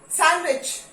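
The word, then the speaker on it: sandwich: Okay, सैंडविच, D silent, सैंडविच, handsome, Wednesday.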